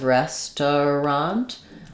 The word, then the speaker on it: restaurant: is not wrong, but native speakers will often reduce this down to more like 2 syllables, and they'll say more like restaurant. So we have the first letter E says the S sound like red or like rest. You could think about it like restaurant, but I do think that T kind of links the 2 syllables together.